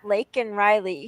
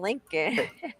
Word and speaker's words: Laken Riley: when he was saying not Laken Riley, he kept saying Lincoln.